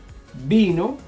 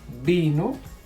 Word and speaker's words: vino: Remember that the V and the B in Spanish sound exactly the same.